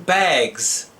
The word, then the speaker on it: bags: If the last sound of the word is a voice sound such as G, as in bag, the adding S is pronounced as Z, as in bags.